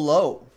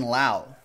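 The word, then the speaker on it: Lowe: triple relic an autograph not to be confused with with Brandon Lao if that still cracks me up to this day low and Lao spelled the same on the same team as well raised bill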